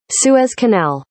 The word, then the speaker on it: Suez Canal: Suz Canal Suz Canal Suz Canal Suz Canal Suez Canal Suz Canal Aiden Aiden Aiden Aiden Aiden Aiden all right